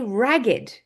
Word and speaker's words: ragged: the day he was born we also say ragged if you are run ragged you are exhausted